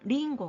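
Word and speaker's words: りんご: 뒤 끌자 가 봅니다 이럴 경우에는 응 발음은 이음 받침 이라는거 자 글자가 색을 다니까 3박자 로 바로 많은게 포인트가 되겠습니다 아따 하시기 바랍니다 링고 링거 링거 윙어 이렇게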